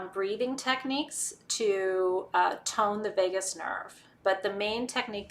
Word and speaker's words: vagus: do research on the vagus nerve. It's spelled like Las Vegas, or it's not spelled like Las Vegas. It sounds like Las Vegas, but it's not spelled that way.